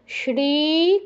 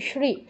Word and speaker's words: শ্রী: না তোমার শ্রী শ্রী শ্রী আমরা বাংলায় যেমন বলি না সদা সত্য কথা বলবে তো এখানে স এর উচ্চারণটা যেমন হচ্ছে সংস্কৃত তালব্যসের উচ্চারণটা ঠিক তেমন শ্রী শ্রী বলো শ্রী শ্রী